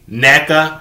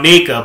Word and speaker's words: Neka: And they're joined by newbie Neka Ahim. See, I was calling this girl Nika, but her name is Neka, so I mispronounced her name before, but I got it right now, so it's Neka.